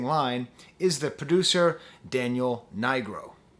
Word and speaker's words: Nigro: But the correlation, the connecting line, is the producer Daniel Nigro, Nigro. I finally looked up how to pronounce his name.